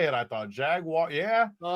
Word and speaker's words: Jaguars: I thought Jaguar. Yeah. So, it is Jaguars. Is that what it is? Jaguars. Like wires. That's really how you say it, Craig. Jag wires.